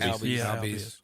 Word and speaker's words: Albies: Albies, is that how you say it? Albies.